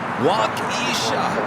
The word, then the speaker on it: Waukesha: Oh yeah, Waukesha, Wisconsin is pronounced Waukesha.